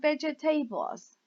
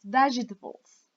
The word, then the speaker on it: vegetables: three spices spices for vegetables vegetables be careful pronunciation is not vegitables task is vegetables curry curry fret here we don't say through